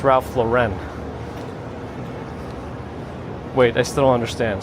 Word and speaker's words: Ralph Lauren: Ah, it's Ralph Lauren. Rhymes with foreign.